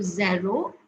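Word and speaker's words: zéro: first one is zeru the first one is pronounced as zero here you will notice that I have given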